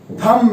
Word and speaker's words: thumb: ये जो आप देख रहे हैं ये थंब नहीं है, ये थम है।